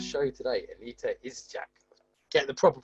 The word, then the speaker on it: Aneta Idczak: Aneta Idczak.